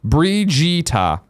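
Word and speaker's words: Brigitte: Greg and Jason yesterday the pronunciation of bridgetta in overwatch is roughly Bree no Bree jitta this is a Swedish character I said Bridget no no no yeah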